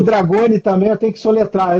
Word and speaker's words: Dragone: E em que Dragoni, essa é a pronúncia certa do seu nome, né?